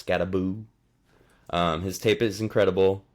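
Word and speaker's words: Skattebo: on my list is SC cam scabo don't pronounce that wrong even though it looks like scabo it's scaboo um his tape is incredible and his numbers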